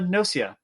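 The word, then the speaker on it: Gnosia: and i finished uh nosia which is the proper way of saying it unless they've decided to pronounce the word wrong uh because it's based off the word gnosis um latin and all that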